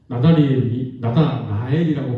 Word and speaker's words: 나다나엘: 그렇다 그러면 나다나엘이라고 발음하는 게 더 맞겠죠.